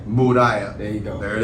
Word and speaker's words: La Gran Muralla: La Gran Muralla. Muralla.